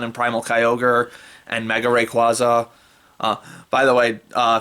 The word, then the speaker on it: Rayquaza: primal kyogre and mega rayquaza uh by the way uh fine uh seeing the romanized spelling of the japanese production pronunciation of rayquaza which apparently is rakuza seeing that written out